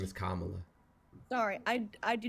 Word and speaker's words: Kamala: Kamala I'm open to conversation her name is kamla sorry I I do not mean to pronounce it wrong that is my bad uh